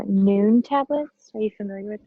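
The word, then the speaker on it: Nuun: It's Noon tablets.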